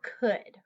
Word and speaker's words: could: And then in the result, you're going to use would or could. Would or could. Sometimes people have a hard time pronouncing those. You don't really say the L sound.